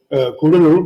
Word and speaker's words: Cuddalore: It's actually not pronounced Cuddalore anymore, thank God, Kudalur, but anyway, Cuddalore is